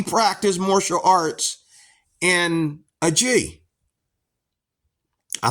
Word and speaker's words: gi: This is why we practice martial arts in a G. I think it's actually pronounced gi.